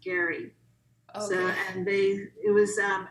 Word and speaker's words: Gerry: whose last name was spelled g-e-r-r-y but it was actually pronounced gary so and they it